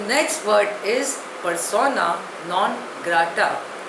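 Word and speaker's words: persona non grata: अ singer par एक्सलस the next word is पसोना नॉन ग्रा spelling is पी ई आर एस ओ एन ए एन ओ एन जी ी आर ए टी ए pronunciation is पसोना नॉन ग्रा इट इज अ Latin word it means अ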